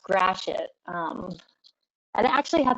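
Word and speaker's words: Gratiot: dangerous road in detroit this is it it's pronounced grashit um and it actually has a very different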